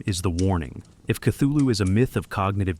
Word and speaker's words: Cthulhu: Lovecraft gave no definitive pronunciation, though he offered several phonetic approximations in his correspondence. In a 1934 letter to Dwayne Riml, he wrote that the actual sound, as nearly as human organs could imitate it, might be something like clu, the first syllable pronounced gutturally and very thickly.